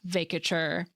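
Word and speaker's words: vacatur: Supreme Court justice Sonia Sotomayor using the word, and she pronounced it "vay-kuh-tchur," so that is what I went with and would recommend in the absence of any other definitive source.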